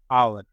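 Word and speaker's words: hour: तो इसलिए एन लगा एन आवर अगो एक घंटे पहले आवर एच साइलेंट आ यह रहा आ यह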